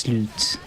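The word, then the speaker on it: slut: I like that clip of the Swedish Finding Nemo ending where it just says Yeah, it's pronounced sloot in Swedish.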